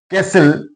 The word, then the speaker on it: castle: Castle, T is silent here.